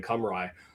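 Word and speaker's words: Cymru: Um, Turkey like Chetchia starting to announce and and use their preferred domestic pronunciation some like something like Wales becoming Camry uh in competitions and and so Turkey knocking off Romania earlier today.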